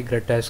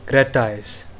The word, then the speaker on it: gratis: So guys, आज हम जानेंगे ग्रेटाइस का मतलब क्या होता है। पहले तो आप जान लो ये प्रोनाउंस कैसे किया जाता है। ग्रेटाइस, ग्रेटाइस, GRATIS, ग्रेटाइस, GRATIS, ग्रेटाइस।